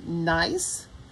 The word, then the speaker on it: Gneiss: original pattern it is called or pronounced nice and it is one